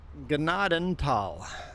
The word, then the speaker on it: Gnadenthal: How do you pronounce it? Ganadantal.